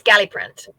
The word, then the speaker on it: Galliprant: and being put back on, how do you pronounce this? So it's Galliprant.